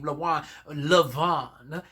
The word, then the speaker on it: Levant: That's why you pronounce the N, but you do not pronounce the T in Levant.